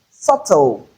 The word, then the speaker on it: subtle: Another one is subtle. Subtle. Subtle. In subtle, the letter B is silent as well.